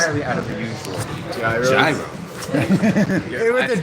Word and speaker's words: gyro: Gyros. Hey, with a G. I pronounced it that way yesterday too. Actually, there was a long time. I didn't know it was zero.